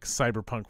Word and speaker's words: CBR PK: rules light game and it's spelled like cyberpunk without the vowels so CBR PK core uh it was a